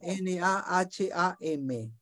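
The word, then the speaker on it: נחם: La palabra en hebreo es Naham, N-A-H-A-M. NA, N-A-H-A-M. ¿Viste? Es una palabra que para pronunciarla en realidad es Naham. Es un suspiro en realidad.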